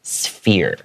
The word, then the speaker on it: sphere: Remember that it's pronounced with a F sound, okay?